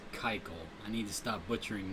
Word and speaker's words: Keuchel: I discovered his name is pronounced Keuchel. I need to stop butchering names. Dallas Keuchel.